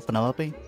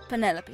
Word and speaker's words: Penelope: penny pointer pleasure is that short for penelope officially yes but i never can be bothered with all four syllables of it penelope sounds a little ostentatious